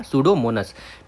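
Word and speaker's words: Pseudomonas: तो सूडोमोनस ठीक है क्या सूडोमोनस पी एस ई डी P silent रहता है ठीक है डो मोनस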